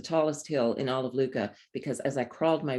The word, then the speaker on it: Lucca: in all of lucca luca rhymes with hookah no one can tell